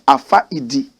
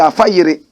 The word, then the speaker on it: Afayiri: If you don't know how to speak Dagbani, you might pronounce it ordinarily as Afaidi. But we who speak the language fluently, we say Afayiri.